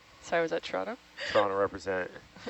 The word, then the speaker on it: Toronto: Atlanta it's like atanta it reminds me of the Toronto versus Toronto pronunciation there's no te's the te is clearly the tea is clearly theirs there Lost in Translation 8 this is from the lounge as someone from Toronto it's Toronto sorry was that Toronto